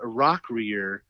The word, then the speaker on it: Rockrear: playing the character Heather Rockrear in what movie? Who was the character's name? Heather Rockrear. It's not an Asian accent. It's Rock Rear.